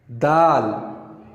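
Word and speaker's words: دال: And if we compare this letter with the English letter, it sounds like D. Like we say D for duck, it makes same sound, and we pronounce it in Arabic dal, dal, dal.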